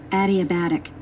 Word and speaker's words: adiabatic: 아리르르 발음을 들려드리겠습니다. 내일 시험이 되게 시간 너무 없는데. Adiabatic.